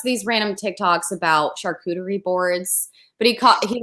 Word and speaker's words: charcuterie: girl was like because i purposely pronounced it char juicy board or something like i did that on purpose because it's sarcasm there are people in the comments being like it's pronounced charcuterie in the french language and i was like